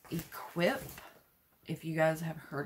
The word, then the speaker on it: IHKWIP: this brand is called equip if you guys have heard of that it's spelled i h k w i p pronounced equip and this is just